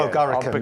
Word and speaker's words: bulgaricum: Do you pronounce it Bulgaricum, don't you? Bulgaricum, yeah.